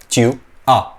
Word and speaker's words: tu as: That becomes a, tu a, ठीक है। इसको अगेन आस नहीं बोलोगे, एस प्रोनाउंस ही नहीं करोगे।